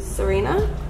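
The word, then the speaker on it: Tsareena: oh this is cute serena no what that's what it's called it's the tea is silent are you serious am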